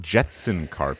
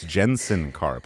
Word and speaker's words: Jensen Karp: well first of all it's not Jetson carp it's Jensen carp which I already said